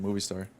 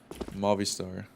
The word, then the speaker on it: Movistar: That's how you pronounce it? Oh, I've been saying Movie Star. Movistar. Movistar.